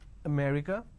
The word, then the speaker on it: America: go to certain part of the country they pronounce the same words differently for example if i have a word which is america if you go to north india especially punjab